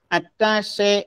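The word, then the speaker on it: attaché: ബട്ട് ഇംഗ്ലീഷിൽ മറ്റൊരു വേർഡുണ്ട്, അറ്റാഷേ എന്നൊരു വേർഡുണ്ട്. അതായത് അറ്റാച്ചിന്റെ കൂടെ ഒരു ഇ എന്ന് ചേർത്താൽ മതി. അത് രണ്ടും രണ്ട് വേർഡാണ്. ആദ്യത്തേതിന്റെ ഉച്ചാരണം അറ്റാച്ച്, ബന്ധിക്കുക അല്ലെങ്കിൽ കൂട്ടിച്ചേർക്കുക. ബട്ട് അറ്റാഷേ എന്ന് പറഞ്ഞു കഴിഞ്ഞിട്ടുണ്ടെങ്കിൽ എന്റെ ഉച്ചാരണമാണ് അറ്റാഷേ എന്നാണ് ഉച്ചരിക്കുന്നത്.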